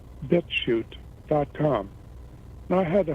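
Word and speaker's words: BitChute: a website called bit now shoot is spelled like the chutes and ladders with a c-h-u-t-e bit shoot dot com i had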